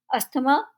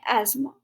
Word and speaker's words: asthma: अस्थमा गलत pronunciation है। सही प्रोनाउंसिएशन है एज़्मा।